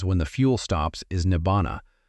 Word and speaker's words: nibbāna: The Pali word for what happens when the fuel stops is nibbāna — pronounced ni-BAH-na.